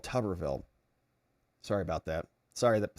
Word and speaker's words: Tuberville: Learn how to pronounce his name. It's called Tuberville.